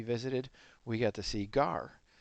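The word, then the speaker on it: gaur: we got to see gar. It's pronounced gar like the fish.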